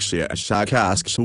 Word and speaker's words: Shashakask: of your human letters, something like Shashakask with a very, very strong pronunciation of the SH and K sounds.